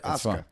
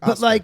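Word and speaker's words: Asuka: I know I mean it's like ASA it's like Osa from WWE ASA she has a u in her name don't prounce the you at all but what kills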